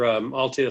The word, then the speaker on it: Altea: So I think that probably leads into your Altea Sports Partners, right? Am I saying that right?